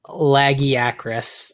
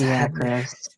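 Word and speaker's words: Lagiacrus: Laggy Acris. That's Lagiacris.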